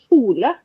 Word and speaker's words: kjole: people that can say the sound, and it's SKJ. So and a K and a J. So kjole is like a dress. So kjole is kjole. So this and a shot kino.